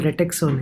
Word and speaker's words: RETEXO: It's it's called RETEXO, Nick. RETEXO.